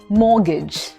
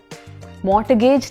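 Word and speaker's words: mortgage: जी ए जी ई अ लॉट of people से मॉट गज because वहां पे टी है राइट बट ये जो टी है ना ये साइलेंट है इसमें आवाज नहीं आएगी सो इट्स मॉर्गेज मॉर्गेज एमफसिस मो पे है राइट सो मॉर्गेज मॉर्टगेज नहीं मॉर्गेज ब्रेकफास्ट में ब्रेकफास्ट में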